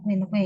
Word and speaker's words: quinque: Ya, Miscevac, Unguentum, Numero, Quinque ya, 5 itu Quinque ya bacanya ya.